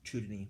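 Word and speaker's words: Zhou Dunyi: about the the philosopher by the name of chudin or um z h o u du n Yi chudin that's way it would be pronounced um following menes um there was um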